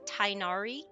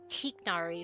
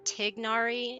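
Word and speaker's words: Tighnari: comes from right um they're like it's tiknari it's like t it's like it's more of a tigari instead of tinari so they were the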